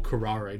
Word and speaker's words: curare: Career, or curare, depending on how you pronounce it.